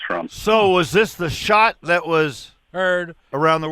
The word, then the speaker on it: Schadt: it's very politically correct it sounds like shot like a gunshot what yeah well Keith